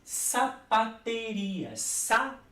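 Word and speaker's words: zapatería: E sapateria, se pronuncia com la S, como se fosse em português, sapateria, mas se escreve com Z.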